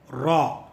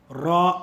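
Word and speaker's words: ر: Now let us go to the letter Re or Raw. Raw in the sense R-A-W. Remember raw and not the Ra.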